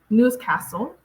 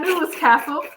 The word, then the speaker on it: Newcastle: Newcastle. I don't know why I put the essay. Sorry, Newcastle, not Newscastle. Newcastle. Because I'm like, I know I got that one right. Yeah, that was easy. Yeah. Newcastle.